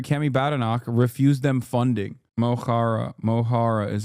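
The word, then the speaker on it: Mo Chara: Mohara is how you pronounce it.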